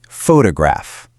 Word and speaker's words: photograph: You look at this word and you want to say photograph, right? Giving equal heavy weight to each part. But the correct way is photograph. Notice that relaxed almost lazy t sound right in the middle. Photograph.